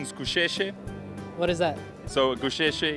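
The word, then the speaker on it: Gusheshe: she Keshi Keshi Keshi Keshi so the correct pronunciation is coucher what is that so cliche it's like an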